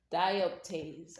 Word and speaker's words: dioptase: the green dial paste dioptase I think is how you say it so something painful is